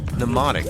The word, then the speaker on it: mnemonic: that i use and yes mnemonic with a silent m can you believe it